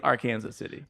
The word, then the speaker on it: Arkansas City: But if if you do say the full name is our Kansas City.